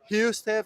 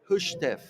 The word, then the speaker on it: HUSTEF: Hustef? No, it's Hushtef. Oh, Hushtef. yeah. The This is something that I was not aware. Yeah, I was butchering the name originally in the first transmissions that we did, and I promised that I would go around and ask the organizers, and they were like, "Yeah, here in Hushstev. Hungarian is Hushtef." Hushstev. Okay. So, like Budapest, Hushtef.